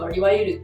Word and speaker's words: いわいる: いわゆる？（いわゆる） Well when you're talking the ゆ kind of becomes an い so you say いわいる Japanese people say it like that So rather than いわゆる, it's いわいる yes, when talking quickly.